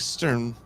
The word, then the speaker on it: Sturm: I was saying it wrong when I met her, because my eyes flip-flopped. They flim-flammed. And I was calling her Strum. And then Gene wrote it Strum originally. And it's like Sturm.